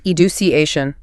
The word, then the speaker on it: education: Take the word education education stress on CA or information.